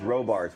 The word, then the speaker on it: Robarts: It's not Roberts, it's Robarts. We locals know how to pronounce it.